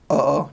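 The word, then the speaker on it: oo: casually like to friends uhoh just two o's they pronounce all their a IO and use over there um so yeah uh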